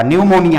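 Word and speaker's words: pneumonia: अब आप गाना नहीं गाने लगेगा बर्थडे में, निमोड़ा निमोड़ा निमोड़ा, न्यूमोनिया है, पी से स्पेलिंग शुरू होता है, लेकिन पढ़ते हैं न्यूमोनिया।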